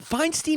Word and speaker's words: Feinstein: Rachel yeah wait wait fine Steen is the way most Feinstein's say it right are you trying